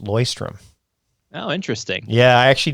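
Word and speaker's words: Leuchtturm: By the way, I learned that that's it's pronounced loystrom.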